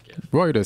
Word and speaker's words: Reuters: Reuters? Reuters sounds right. It is the right way to say it.